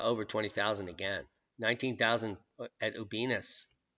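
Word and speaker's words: Ubinas: 19,000 at Ubinus, which rhymes with penis.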